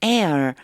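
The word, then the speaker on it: heir: 하인이 will be my Air 요거 발음 조심하세요가 발음이 안나요라고 하셔야 돼요 나의 상속자가 될 것입니다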